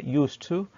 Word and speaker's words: used to: transcription the kitab software used to i don't mention the d okay and i don't pronounce the d charles used to okay uh used to